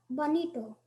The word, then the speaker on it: bonito: is a common noun am I pronouncing it correct Bonito that's right may you please use